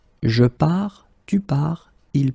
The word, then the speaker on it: pars: Remember, you put this S, you don't pronounce it. Je pars. Then you will get tu pars, il, elle part.